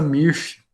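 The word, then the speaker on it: Mörsch: uma treliça, chama treliça Mirch, né? Se escreve diferente porque é do alemão, né?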